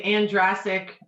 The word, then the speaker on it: Andrezek: Yeah, it's a Andrezek. It rhymes with Andrezek. Jurassic.